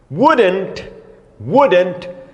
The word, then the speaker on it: wouldn't: Ó a pronúncia, wouldn't. Você vai no dentista e ele pergunta, o que está doendo?